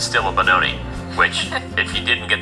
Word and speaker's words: Benoni: position, it's still a Benoni. Which, if you didn't get the memo earlier, it means son of sorrow, and it rhymes with baloney.